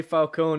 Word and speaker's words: Falcone: They say Falcone, not like in Batman Begins where they kept calling him Falcone. Falcone. I've been like rewatching Gotham and like it's I'm getting a lot of Falcone.